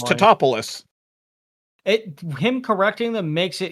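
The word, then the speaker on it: Tatopoulos: And he's always like, it's Titopoulos.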